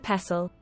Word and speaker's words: pestle: Mortar and pestle. Mortar and pestle. I don't see pestle. The T we ignore.